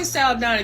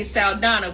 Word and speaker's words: Saldaña: we're upset when Zoe salana if you don't know what's going on and no we're not pronouncing it as Sala because she never came on the scene as that she wanted to be salana because she was ashamed